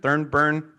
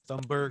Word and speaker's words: Thunberg: Thornburn. Greta Thornburn. Thunberg.